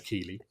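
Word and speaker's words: Keighley: is a um jeff keeley sorry i was saying in our in our green room that i want to pronounce his name like the uh town in yorkshire but it is keeley uh he's an interesting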